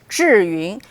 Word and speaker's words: Zhiyun: Okay, so it pronounced Zhiyun, meaning smart cloud.